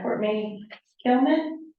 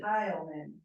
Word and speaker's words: Kyan: two cour Miss uh me kman did I say it right no what's the correct pronunciation Kyan Kyan thank you the second vow is hard thank you um here